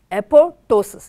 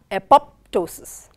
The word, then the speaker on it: apoptosis: eposis as I said it is apotosis it is not apoptosis it is the falling